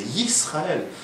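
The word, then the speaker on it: Yisrael: Il y en a qui disent Israël. C'est Israël. Dans la Torah, Israël, c'est le nom d'un culte idolâtre. Il faut dire Israël, c'est Yisraël. C'est même pas Israël.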